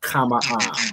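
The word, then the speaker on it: חמאה: The way you'd write it, you'd have a ha at the end, right? So kama-ah is how you pronounce this word right here.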